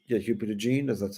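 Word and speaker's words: DeJean: Mitchell brought in Cooper deene H yeah hup jeene is that's how you pronounce it Jeremiah tro Jr came in love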